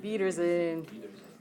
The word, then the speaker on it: Wiedersehen: Wiedersehen. Okay, so let's put an or a spelling thing on here. So, wow, pronunciation. I speak English really. V. Der. Zane. Does that help?